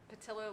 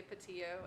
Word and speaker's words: Patillo: and is often mispronounced is patilla like armadillo though you will hear some of my close friends in the neighborhood who will say patillo and i answer to